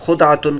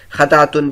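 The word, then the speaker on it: خدعة: بھی، اور خدعتن بھی۔ امام نووی رحمۃ اللہ علیہ فرماتے کہ اہل لغت کا اتفاق ہے کہ پہلا تلفظ یعنی خاء پر زبر اور دال پر جزم کے ساتھ سب سے زیادہ فصیح ہے، یہاں تک کہ ثعلب کہتے ہیں کہ ہمیں یہ بات پہنچی ہے کہ خود خاتم النبی صلی اللہ علیہ وسلم کا تلفظ یہی تھا۔ البتہ روات حدیث کے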